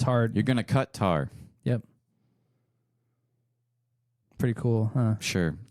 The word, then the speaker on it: Qatar: say it Qatar and some people say it cutter it's the first half of cutter in the second half of Qatar cut tar Qatar yeah yeah it's actually a mixture of